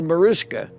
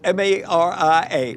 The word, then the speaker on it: Mariska: and the reporters said, "Um, well, how's little Marishka?" Jane says her name is Maria. I'll spell it for you. M A R I A.